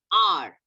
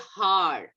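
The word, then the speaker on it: hour: R. We don't say har. H-O-U-R.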